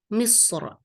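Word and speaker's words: مصر: And then that's, of course, London, but a bit different in the Arabic pronunciation. So we say London. Yeah. And then Egypt will be Misr.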